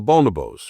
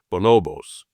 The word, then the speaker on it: bonobos: of primates called the bonobos, or sometimes they're called the bonobos. Both pronunciations are fine.